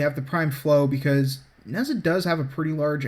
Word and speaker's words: Nehza: Of course, as far as my melee weapon's concerned, I'm using the Destreza because it rhymes with Nehza, and I'm using the Body Count and Blood Rush combo.